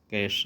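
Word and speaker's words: cache: कैश भी पढ़ सकते हैं, कई लोग कैश भी बोल लेंगे, कैश है इसका प्रोनाउंसिएशन।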